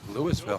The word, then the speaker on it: Louisville: trucks if I remember isn't it pronounced Louisville no Lewisville don't ever say that over there they get upset it's Louis and everything and how they started